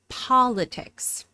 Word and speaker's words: politics: The first syllable is stressed, and this is a short O, politics.